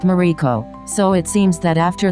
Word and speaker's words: Mariko: The name of the land was written Maruko, round, and pronounced Mariko, so it seems that